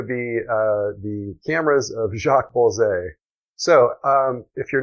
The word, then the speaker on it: Bolsey: company here called the Bolsey Camera Company, or Bolsey, you'll hear it pronounced.